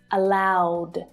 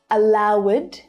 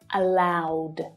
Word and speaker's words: allowed: of these sounds, then the ed is pronounced as d. Allow, ending in the w voiced consonant sound, becomes allowed. Not allowed. No, this is a really, really common error. It's not allowed, but allowed.